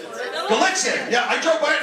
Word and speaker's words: Gallitzin: What's it pronounced? Gallitzin. Yeah, I drove by it and I go, what solar system are we in? Who names their city Gallitzin?